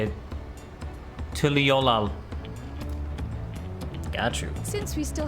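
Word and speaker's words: Tuliyollal: Tuliolal.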